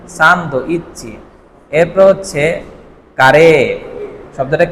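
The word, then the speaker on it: サンドイッチ: এখানে ছোট সু আছে তাই না? সান্দ ইচ্চি।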